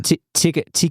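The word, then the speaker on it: tikka: Yeah, I've never heard anyone say it like that, but I appreciate your pronunciation. Tika. You said tiki. We're gonna. It's on record. Did I say tiki?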